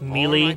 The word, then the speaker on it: melee: their melee skills now it's pronounced melee children like super smash brothers melee hint guys upcoming episodes